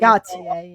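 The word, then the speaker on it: Gotye: I think it's Gotaier or Goautier. Go apparently. Technically it's Gotier.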